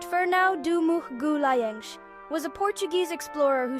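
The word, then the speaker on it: Fernão de Magalhães: Ferno de Magalis, pronounced Ferno Dum Gulen, was a Portuguese explorer who sailed for Spain and is also known as Ferdinand Mellin.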